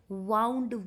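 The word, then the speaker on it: wound: भी सेम होती है spelling will be same pronunciation है चेंज्ड तो अगर आप बोल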